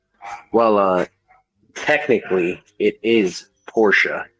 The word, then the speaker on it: Porsche: with us um well uh technically it is Porsche it's not just fancy that is how you pronounce it well you have to be sure